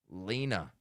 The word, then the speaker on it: Lena: Lena rhymes with wina. Aena. Lena.